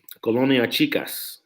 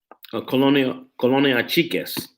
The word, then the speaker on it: Colonia Chiques: Ventura County gangs, I would say the biggest neighborhood in Ventura County is probably Colonia Chicas. Colonia Chiques. You gotta say it right.